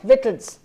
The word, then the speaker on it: victuals: No, that is not the correct pronunciation. इसका pronunciation है victuals.